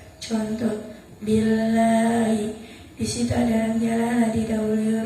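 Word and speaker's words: بِاللهِ: Artinya Apabila dalam jalalah didahului huruf yang berharokat kasroh, maka cara bacanya tipis. Contoh, billahi.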